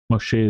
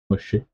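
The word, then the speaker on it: משה: Moshe is how you pronounce Moses in Hebrew. Moshe and Ammon Moshe means the son of Ammon, the descendant of Ammon, descendants of Ammon.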